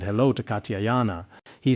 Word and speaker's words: Katyayana: He addressed him as venerable Katyayana. Sometimes I pronounce it ga and sometimes jia. In Tibetan, the sounds ga and jia are very similar. It is like gada gada gara or gata.